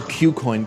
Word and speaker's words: KuCoin: So QCoin, KuCoin. It's spelled KuCoin.